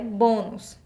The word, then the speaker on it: bônus: errado porque porque a nossa sílaba tônica é o boi e é um som fechado então são fechadas e utilizo acento circunflexo tudo bem Então a